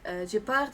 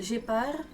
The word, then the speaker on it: Gepard: Or Gepard, I think, if you could like pronounce it in the French way.